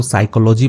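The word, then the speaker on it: psychology: अब यहां पे पी साइलेंट होता है इसको साइकोलॉजी पढ़ते हैं इसका मतलब होता है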